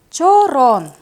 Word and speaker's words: чорон: Друзья мои, давайте научимся правильно произносить название данной посуды. Чорон. Чорон. Обратите внимание на то, что во второй половине слога звук О нужно произносить долго.